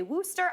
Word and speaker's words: Worcestershire: It's also like uh I I've heard people say wooster, I call it this stuff.